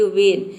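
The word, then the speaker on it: when: हैं यहां पे देखिए वेन यहां पे देखिए डब्लू एच का हो जाएगा व ई का हो जाएगा ए और एन का हो जाएगा न ये पूरा हो जाएगा वेन वेन मतलब होता है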